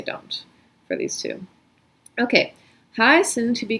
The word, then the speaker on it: heißen: So this EI is pronounced I, like an Einstein, and then this IE is pronounced E, like in Liebe.